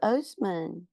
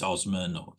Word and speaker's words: Oseman: My name is quite often mispronounced, my surname. A lot of people say it's Osman, and I don't mind